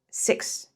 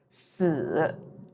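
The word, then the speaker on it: 四: si OK why because it is the same pronunciation as this word it means death death si death so when you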